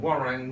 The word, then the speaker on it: Waroeng: And this is Phil from Warren Windsor. Have I pronounced that properly?